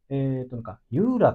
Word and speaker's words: JURA: JURA って書くんだけども、JURA って書いてユーラって読むんだけどメーも、カーさんですか？